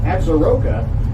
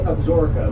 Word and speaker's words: Absaroka: the longm series you might be used to pronouncing that word absor absaroka but here in Cody we say absor like a sponge it absorbs and if